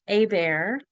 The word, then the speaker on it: Hebert: It's the last name is pronounced a bear because I am from South Louisiana and um a little bit of French history there.